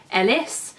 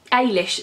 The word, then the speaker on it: Eilis: in my head as Ellis and but when I watched the film they were pronouncing it as Irish which is obviously the Irish pronunciation of it so I'm glad I